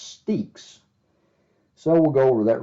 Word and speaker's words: Stexe: did I called it stacks because I didn't know how to pronounce it it looked like Stacks but I actually got a message from the guy himself and he said it was pronounced steaks so we'll go over